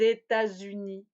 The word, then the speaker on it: États-Unis: Oui, si le pays commence par une voyelle, je vais faire la liaison en Z. Par exemple, les États-Unis ou les Émirats arabes unis.